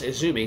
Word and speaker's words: AZM: So then in walks Stardom talent Izumi, you know, spelled AZM, you know, it's pronounced Izumi. So Izumi walks in and, you